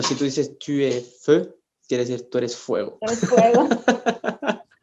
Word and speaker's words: feu: y la palabra fe, que se escriben casi igual, o sea, F-O-U y F-E-U, pero se pronuncian diferente. La primera se diría fou, que quiere decir loco, Ujú. se dice loco en francés es fou, y la otra palabra que es feu significa fuego. Entonces son palabras que son